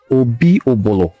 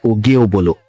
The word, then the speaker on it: Obi-Obolo: Obi-Obolo is the name, not Ogiobolo, and his name was Obi-Olisewina.